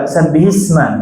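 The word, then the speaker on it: سَبِّحِ اسْمَ: Maka di sabbihisma ya afwan. Sabbih isma. Nah, maka sukun yang pertama di huruf H diberikan harokat kasroh.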